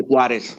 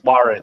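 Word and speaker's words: Juárez: That would be Juarez. Juarez. Yeah, Juarez. Yeah. I was good friends with a dude from out there. he grew up in he lived in El Paso, but he came from Juarez.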